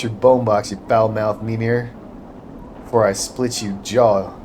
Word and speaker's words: Mimir: Let's see if I'm pronouncing that one right. Survey says Here we go. Mimir. Yeah, Mimir.